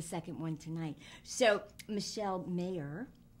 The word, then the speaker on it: Maher: So, Michele Maher. It's pronounced Mayer, yes?